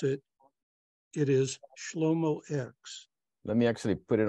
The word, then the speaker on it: Shlomo X: And for those people that cannot pronounce it, it is Shlomo X.